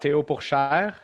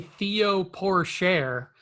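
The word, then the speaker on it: Théo Pourchaire: about teopoksha um yeah i wish i could say it like that i say theo poor cher which is definitely not as not as a french or correct as i would like oh there's all there's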